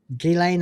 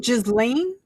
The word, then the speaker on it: Ghislaine: Ghislaine, I don't know how you pronounce it.